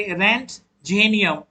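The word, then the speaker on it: Roentgenium: यहाँ आइएगा तो यहाँ देखिए कॉपर है, सिल्वर है, गोल्ड है और ये देखिएगा रेंट, देन इसको पढ़ेंगे रेंट जेनियम। और ये जो है रेंट, ओ को साइलेंट रखिए, कुछ लोग इसको रेंट पढ़ते हैं।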